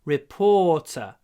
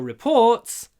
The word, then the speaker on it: report: А вот часто ударение меняется, когда существительное и когда глагол. А здесь нет. Здесь глагол to report и существительное a report. Так что ударение и для существительного, и для глагола на втором слоге. A report. Отчеты reports. Часто люди вроде угадывают, что, раз существительное, наверное, первым, говорят reports. Reports. Но это не report, а reports.